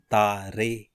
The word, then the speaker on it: Tare: Final E's must be voiced. For example, Tare is pronounced as Tare.